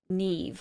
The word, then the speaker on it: Neve: And yes, it's pronounced Neve, like with a V at the end.